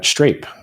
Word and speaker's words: Strape: And then I say like rape, Strape, dude. STRAPE. Yeah, street rape. I'm familiar. So strawberry grape. I'm like, yeah, Strape, like strawberry grape.